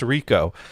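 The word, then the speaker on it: Reco: Let's remember, the encoders are all programmed by a guy whose name starts with R and ends in eco and is pronounced Rico.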